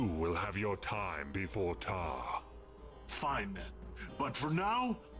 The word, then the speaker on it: Taargh: See, I pronounced that Taargh, not Taargh.